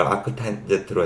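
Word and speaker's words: arctan: 그래서 탄젠트를 이쪽으로 쏙 보내버리면은 탄젠트에다가 마이너스 1 붙여주면은 아크라고 읽는다고 그랬어요.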